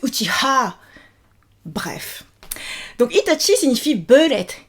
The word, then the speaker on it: Uchiha: Sauf que, attention, ce n'est pas Uchiwa, c'est Uchiha.